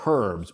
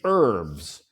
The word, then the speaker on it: herbs: The H, we say herbs. But in America, In American English, the H is silent. We say herbs.